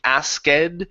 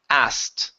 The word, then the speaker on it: asked: okay so this word instead of pronouncing that K all right we're going to pronounce the word like this so take a look in the chat box okay it's as skip over the k sound and pronounce a t instead of saying ased the word is asked asked there you go